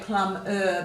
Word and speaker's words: plumber: We should say plumber, but quite often we give it a schwat sound, plum up. But you have to know to write the ER if you're not going to pronounce it correctly.